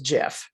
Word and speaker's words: GIF: and over again and i always call it gif even though i've been told several times that the proper pronunciation is jif so then here's another